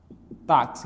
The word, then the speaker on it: táxi: Nós temos aqui, a fonética seria, ó, seria fixo e aqui seria táxi. Então, nós temos o quê? Uma letra com dois sons.